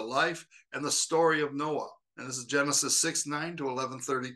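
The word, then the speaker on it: נֹחַ: Hebrew the name Noah is spelled with a het at the end and and is pronounced Noah Noah's name comes from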